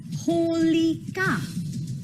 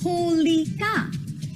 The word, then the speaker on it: Holika: to say her name it's holy cow one more time holy cow and she had a